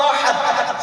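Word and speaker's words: أحد: ہے قل هو اللہ احد، فرماؤ وہ اللہ ایک ہے. اگر کوئی اس طرح پڑھتا ہے قل هو اللہ احد، اس کا معنی ہے کھاؤ اللہ ذلت والا ہے.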